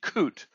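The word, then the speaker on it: קוט: grieved is the word coot it's pronounced like kut to detest or loathe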